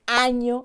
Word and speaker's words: año: ñ fundamental, por ejemplo, a la hora de decir año en español, para no decir ano, que es otra cosa.